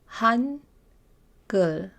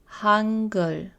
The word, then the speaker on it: Hangul: Hangul. Hangul. I've put the romanized pronunciation in parentheses so you can see exactly how this would be pronounced using English letters.